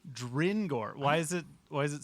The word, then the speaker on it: Drengor: Like grin, but with a D. Dringor.